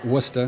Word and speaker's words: Worcester: Worcester Ohio not like where I'm from uh wora Massachusetts I'm here with Bill Buckwalter uh shop